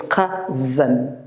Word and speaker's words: cousin: cousin and it's prese the s is pronounced as as not this and so it's kazan it's cousin and so um we